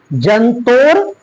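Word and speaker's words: जन्तोर्: आत्माश जंतोर निहतो गुहायाम देखिए त में ओ की मात्रा है उसके बाद रेप है। तो ये रेप का उच्चारण अगले वर्ण से हम लोग पहले कहते हैं। कैसे पढ़ेंगे? जंतोर जंतोर निहतो गुहायाम जंतोर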